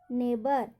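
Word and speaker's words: neighbour: Thought, thought, high और नेबर। यहाँ पर सभी स्पेलिंग या वर्ड में GH का साउंड नहीं हो रहा, GH का साउंड नहीं होगा।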